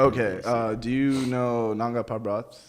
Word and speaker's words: Nanga Parbat: Like there's a place called how do you pronounce it? Nanga Parbat. Nanga Parbat.